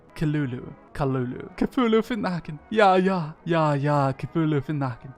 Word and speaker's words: Cthulhu: It's actually pronounced Kalala. Kalulu.